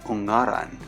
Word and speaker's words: Ungaran: The mountain's name is actually pronounced as Ungaran.